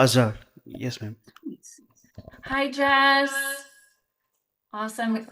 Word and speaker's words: Azhar: Do we say it Azhar? Yes, ma'am. Oh, did I say it right? Yeah, Azhar.